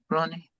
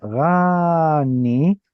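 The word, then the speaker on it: רָנִּי: So it's not rani, but rather roni.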